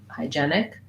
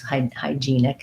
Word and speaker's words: hygienic: I typically think I go with hygienic, but hygiene and hygienist, if it's easier to keep it consistent between the two, you can use hygienic instead of hygienic. Great. Yes, two pronunciations in Webster.